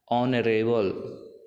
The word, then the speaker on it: honorable: So here in this case H is silent, and if we pronounce it, it will sounds like honorable O, and O is a vowel.